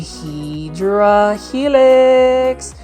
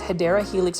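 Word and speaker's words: Hedera helix: here we have a hedra helix or the correct way to say it is hyera helix or English ivy this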